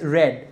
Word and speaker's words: read: of read is red spelling is same but we pronounce it as red read read right i